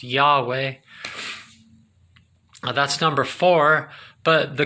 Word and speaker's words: Yahweh: water error in earth y hwh he pronounced yahweh that's number four but